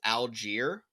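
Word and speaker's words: Allgeier: Tyler, I did find out it's Algier.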